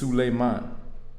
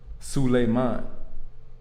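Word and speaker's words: سليمان: In the Arabic, it's Sulayman. Sulayman.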